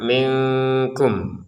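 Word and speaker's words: منكم: Nah, kemudian nun sukun bertemu kaf dibaca dengan samar minkum. Minkum seperti. Jadi ada jedanya untuk penyempurnaan samarnya itu. Jadi kalau kita bacanya minkum itu berarti kan tidak sempurna.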